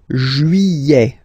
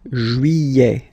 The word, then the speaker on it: juillet: Juillet. Juillet. Don't pronounce this final T, E-T here at the end. E. Juillet. Juillet.